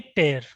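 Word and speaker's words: tear: एक होता है ये, और ये टेयर। इन दोनों में ये आप समझ लीजिए, टीयर और टेयर। इसमें हल्का सा ए है, इसमें ई।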